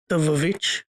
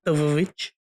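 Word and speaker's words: The VVitch: Okay, I honestly can't remember, but I had just recently watched The Vavitch, like rewatched The Vavitch. I'll always say it that way because that's how it's spelled on the poster.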